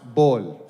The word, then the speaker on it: Paul: Also, there's no P in Arabic, so my name is pronounced Bol.